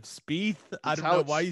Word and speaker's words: Spieth: Speed, I'll say it right now, Speed will not make the cut. First of all, I love how you say speed instead of Spieth.